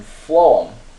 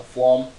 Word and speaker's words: phloem: it so xylem perform that pH makes the F sound so phloem food and that's the vascular